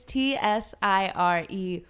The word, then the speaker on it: Tsireya: It's Tsireya. Soraya. I'm Soraya. gonna name my daughter Saraya. that. You have to roll your R. Saraya.